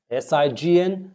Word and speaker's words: sign: Don't pronounce the G at all. Silent. When you see the words S-I-G-N, sign, sign.